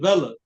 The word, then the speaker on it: Vela: I say it Vela. Vela.